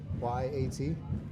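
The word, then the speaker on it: Gotye: I think it's pronounced Guyot, so Goyte. Goyat. Yep. Yeah. No, that's a Y. Goyte.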